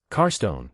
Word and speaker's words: Carstone: Carstone, stress on the first syllable, not the second.